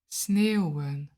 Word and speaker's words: sneeuwen: Read along when I pronounce these verbs and mimic my sounds. Regenen. Waaien. Sneeuwen.